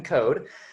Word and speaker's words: Coad: Looks like Coad, but it's pronounced like you would say Toad. So it's Coad.